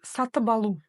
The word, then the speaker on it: сатып алу: У нас ведь идет второе слово алу, а значит, первое слово, если оно заканчивается на согласную глухую, данная согласная должна звучать как звонкая. Вот такие дела. И звучать это будет так: сатыбалу. Сатыбалу. Через букву Б.